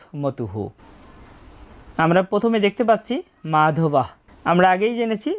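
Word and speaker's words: মাধবঃ: আমরা প্রথমে দেখতে পাচ্ছি মাধবাহ। আমরা আগেই জেনেছি যে শব্দের শেষে যদি কোন বিসর্গ থাকে তার জন্য অর্ধেক হ এর মত একটা সাউন্ড আসে। তাই এখানে হবে মাধবাহ।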